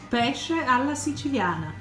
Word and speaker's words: Pesce alla Siciliana: to tell you how you're actually meant to pronounce it. Pesce alla Siciliana.